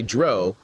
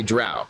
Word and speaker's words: drow: Well, before we jump into that, I noticed that you say dro and I have to say something that lots of people say drought, right?